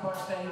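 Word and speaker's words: Barfée: It's pronounced Barfay, there's an accent in you.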